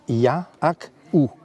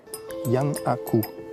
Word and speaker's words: Giannakou: Par exemple, la grecque, Madame Giannakou, ça se prononce Ya-ak-ou. Yannakou, en grec.